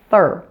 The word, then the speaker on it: third: mouth on this occasion now take a look at this third third I have my tongue firmly pressed against my upper front teeth you still do see